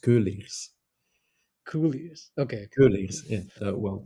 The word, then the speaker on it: Keuleers: leaves cool yes okay coolies yeah well typical uh Dutch vowel which is a very unusual in other languages yeah you're Belgian right